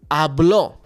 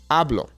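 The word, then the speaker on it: hablo: Accent on it then the natural emphasis is on the second to last vow which in that case would be a ablo versus ablo now the great thing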